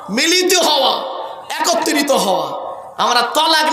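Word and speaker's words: طلاق: শব্দটা কিন্তু তালাক নয়, শব্দটা তালাক নয়, শব্দটা হলো তলাক।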